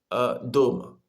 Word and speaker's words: дома: Дома. Дома мы находим О внутри слова, и это ударение. И вот мы читаем О как О. И вот слово это дома. Дома. Дома. Нет дама, но дома.